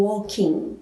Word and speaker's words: walking: Vamos sempre cuidar na hora de pronunciar esse tempo verbal, que eu não falo o G no final do meu verbo, tá? Eu falo walking, como se esse meu G fosse mudo, tá?